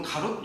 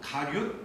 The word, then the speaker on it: 가룟: 저희가 보통 가롯 유다 이렇게 하는데 발음이 어려워서 가룟 유다예요.